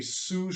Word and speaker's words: sous: next one the next one is called a sous chef that is spelled s-o-u-s Chef sous chef or other people